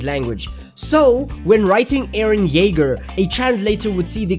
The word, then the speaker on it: Jaeger: words in their language jaeger which is spelled with a j but pronounced with a y would translate the same onto the japanese language so when writing aaron jaeger a translator would see